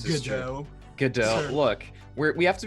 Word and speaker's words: Gadot: It's pronounced This is Godot. Gadot.